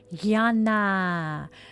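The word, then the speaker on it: jnana: Gana. It is spelled J N A N A.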